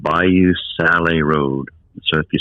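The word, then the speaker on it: Sale: can take this very unique road called bayou sally road so if you spell that it's s-a-l-e which is like french for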